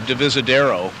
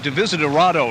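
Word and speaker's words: Divisadero: technically a continuation of devisadero uh am I pronouncing that right yes you because I think I used to call it D visitado or something until I checked the spelling but the major North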